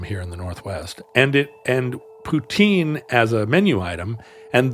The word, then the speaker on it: poutine: Poutine PS is that the pronunciation of Poutine and the last name of the Soviet dictator. There now is a president, Vladimir Putin. And it's not the fake one they tricked George W. Bush with. It's the same exact pronunciation.